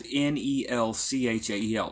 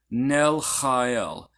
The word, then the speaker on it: Nelchael: Now the CH is pronounced ch. There is no exact sound like this in English. It's the closest, you could say that it is a harsh H sound, like an H, like huh, but stronger huh.